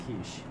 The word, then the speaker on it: quiche: Sir, that's pronounced quiche.